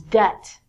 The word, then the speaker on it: debt: We have to say the B-I-T when we say debit, but this word is debt. And if you use your debit card too much, you become in debt. In debt means you do not have money and you owe or have to give people money. So it's not debit, like debit card, it's debt.